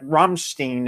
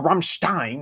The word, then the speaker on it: Rammstein: Now, of course, I can also like karaoke to like Rammstein as well, or Rammstein. Why did I pronounce it as Steen?